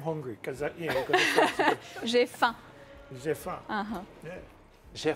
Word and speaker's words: J'ai faim: J'ai faim.